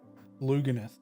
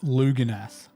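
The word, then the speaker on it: Lugganath: So it is two parts of squig orange, two parts squig, and then one part loganith. Luganith. How do you say that? Lugan. Luganath. Has to be luganith. Lugganith sounds dumb.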